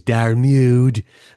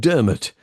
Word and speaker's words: Diarmuid: And Dermot spelt in that classic Celtic way, Diarmuid, which if you pronounce it phonetically is Darmude, but isn't actually a word. Dermot is how that's pronounced.